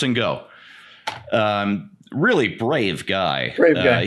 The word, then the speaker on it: Ngo: Yeah, I think it's pronounced Ngo.